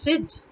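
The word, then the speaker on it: ضد: for example for example in urdu you would hear words like zid in hindi they cannot uh generally pronounce the z word they would end up saying jid you know but it's zid um simply similarly you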